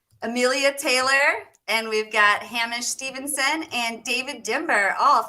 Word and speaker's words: Hamish: Pronounced Hamish, by the way, but I shouldn't have pulled you up on that. I'm going to say Hamish all right now.